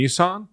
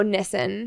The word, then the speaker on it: Nissen: Then we had Tony Nissen. Tony Nissan. No, Nissen.